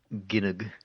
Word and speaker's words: Gynoug: It's pronounced Gynoug.